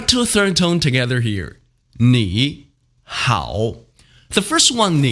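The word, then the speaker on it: 你好: tone falling ah ah they're pronounced in the third tone when spoken individually read after me me how but it doesn't sound the same when we put them together it's pronounced like this knee how nihao i find that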